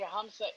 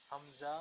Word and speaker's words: hamza: Okay, how do you pronounce the hamsa? Do you say hamsa inverted dhamma equals ale? The hamsa. Yes, hamza.